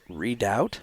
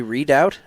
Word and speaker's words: Redoubt: How do you say that? Redoubt? Redoubt? I guess. Radio Free Redoubt? Yeah. Yeah. So, okay. Radio Free Redoubt, and that's REDOUBT.